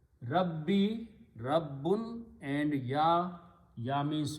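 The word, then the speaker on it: ربي: But for the pronunciation, we pronounce this as a Kasra Rabbi.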